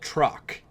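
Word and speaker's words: Troq: anyway she's got an episode called truck it's spelled t roq and basically it's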